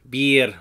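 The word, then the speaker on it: Bheur: be it a hag this one's pretty tricky because it is Gaelic it's actually pronounced be it or be it a hag hey let's be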